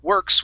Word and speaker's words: work: v sound okay so you don't want to pronounce that v you want to pronounce a w and the way to do that is by saying instead of it's ooh so we say work work good good one more time